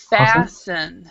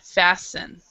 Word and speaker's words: fasten: muted yeah okay okay on this one the t is silent so it's fasten fasten okay and does anybody